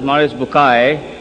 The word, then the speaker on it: Maurice Bucaille: and a scholar of Quran Dr moris buk pronounced as moris bukai right doctor matter okay uh he's a native